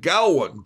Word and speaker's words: Geowan: I said I created a word, but I think it's pronounced Geowan. Like Gowan. It sounds like an old Tarzan word.